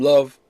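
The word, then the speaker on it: Löw: pressure Low or Joachim Love. You pronounce V, not D, W.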